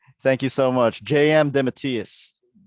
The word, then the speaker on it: DeMatteis: JM DeMatteis. DeMatteis.